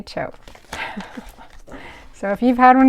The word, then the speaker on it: TCHO: Oh, there's how to say the name. Just say CHO.